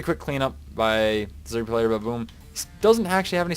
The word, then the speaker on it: Bbaboom: I'm pronouncing it Baboom. There isn't actually another A. I'm just saying it because the English language doesn't like two consonants. Like B's, anyhow.